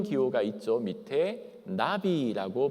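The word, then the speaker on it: נביא: 밑에 나비라고 발음합니다. 이름 예쁘죠? 한국말로 나비. 나비 할 때와 그 나비와 똑같습니다.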